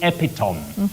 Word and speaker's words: epitome: themselves saying epitome.